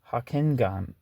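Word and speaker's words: Hocquenghem: post-May era, the pioneer of homosexual liberation, Guy Hockengam. I never know how to pronounce this guy's name. I think he wrote like the Screwball Asses or whatever. It's Hockenghem.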